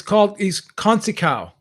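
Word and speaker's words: Conceição: Is it Conceicao? It's Conceicao.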